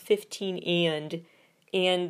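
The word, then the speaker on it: 15&: 15 with an ampersand is actually pronounced 15 and the fandom is the Dreamers.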